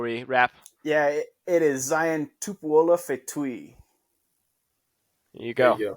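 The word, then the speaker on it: Zion Tupuola-Fetui: Steve, do you want to give us a quick pronunciation lesson before we wrap? Yeah, it is Zion Tupuola Fetui.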